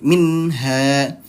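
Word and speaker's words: منها: Minha, satu ketukan saja. Minha. Nah, seperti itu. Jadi hati-hati ya, jangan sampai kita dibacanya malah dengung. Misalnya contoh minha. Nah, ataupun dibacanya malah ditahan dua ketukan. Minha. Hati-hati, nunnya di sini nun sukun, bukan nun yang bertasydid.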